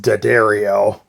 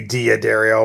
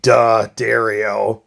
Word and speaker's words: D'Addario: of diaderio and guitar i guess it's actually pronounced daddario they told me when i called them a while ago um but i always say dia dario but it's actually da dario so get that right anyways i've been using